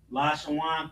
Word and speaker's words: Lashawan: You see Lashawan, Lasha and Wa and Na have a connector under it, making that Wa. So, not Lasha wana, but Lashawan.